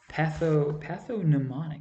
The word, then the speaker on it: pathognomonic: And mnemonic is obviously like a shorthand to help you remember something, but the term pathognomonic is actually spelled like gnome, like GNOMONIC, instead of like MNE.